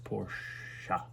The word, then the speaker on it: Porsche: maybe who knows remember it's porsche two syllables not one